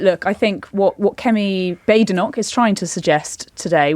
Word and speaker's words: Badenoch: So Kemi Badenoch it is then. That might be your aim for today. But look, I think what Kemi Badenoch is trying to suggest today with her bold,